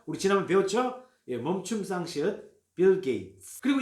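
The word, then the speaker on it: Bill Gates: 빌 게이츠 하면 안 된다는 거 아시죠? 치읓 발음 아니고 TS 발음 어떻게 한다고요? 우리 지난번 배웠죠? 멈춤 쌍시읒 빌 게이츠.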